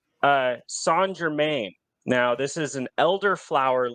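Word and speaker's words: St-Germain: uses something called uh sand Germaine now this is an elderflower liqueur it's spelled like Saint Germain but it's actually pronounced San Germain uh it's really really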